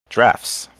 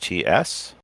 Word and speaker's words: draughts: First game, drafts. Spelled Draughts, often mispronounced draughts.